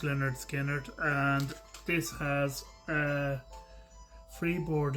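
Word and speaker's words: Lynyrd Skynyrd: Leonard Skinnard, pronounced Leonard Skinnard.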